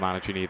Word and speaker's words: Anini: to the service line was kindly corre corrected to that pronunciation Top Spin serve incoming great serving game from anini thus far see if